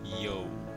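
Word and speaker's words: Yeo: to the big bamboo, is a yo. Not spelled like that. It's spelled Y-E-O. Yo.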